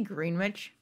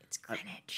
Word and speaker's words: Greenwich: Did you say Greenwich? No. You must have misheard me. It's Greenwich. I'm very good at pronouncing all words, and I've spent a lot of time in New York.